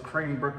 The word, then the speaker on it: Cranebrook: It's Crane, I always say it wrong, but it's Cranebrook, New South Wales, Australia.